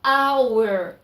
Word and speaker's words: hour: quero falar uma hora a palavra ora em inglês fala hour o h não é pronunciado por isso que eu